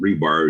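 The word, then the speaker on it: RBAR: why i pronounce it rebar is it reminds me of the metal rods that are stuck in cement forever and not going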